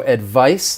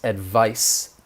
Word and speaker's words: advice: advice and advise so advice the noun uh that c is gonna sound like an s advice advise that's the verb